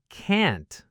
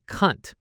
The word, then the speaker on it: can't: So instead of can't with that clear ass sound, or sometimes a longer aw sound in UK English, it can accidentally sound like cunt.